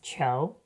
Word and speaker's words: 球: And yes, 球 really is pronounced qiú!